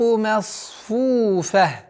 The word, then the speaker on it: مَصْفُوفَةٌ: Вот обратите внимание, чтобы звук мим, чтобы не произносилось как масфу, нет, нужно до конца произносить звук мим с фатхой, потом насад, масфуфа, фу, ударение в размере двух огласовок даммы, и со звука фа уходим на тамарбуту, который переходит в ха и аннулируется.